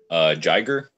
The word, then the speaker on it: Jiger: Jiger? Jiger, yeah. Yes. I always pronounce it as Yiger, like Jaeger, but with an I.